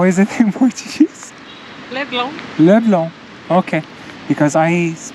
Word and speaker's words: Leblon: Leblon. Leblon. Okay. Because I pronounce it like in French. Leblon. It's really Leblon. Leblon. With an emphasis on N, but not really.